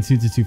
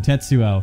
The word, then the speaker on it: Tetsuo: I've been saying Tsutsutsu for so long. Tetsuo.